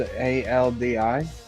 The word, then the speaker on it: Aldi: so now one store your talking about is this spelled a l d i see yep it's um the last two that